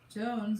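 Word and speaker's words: J'onzz: Jones is pronounced like Jones, not Johns, by the way, says Wolverine.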